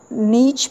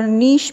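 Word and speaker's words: niche: अब जो है वो नीश के बारे में हम पढ़ेंगे, इसको नीच भी प्रोनाउंस किया जाता है और नीश भी प्रोनाउंस किया जाता है।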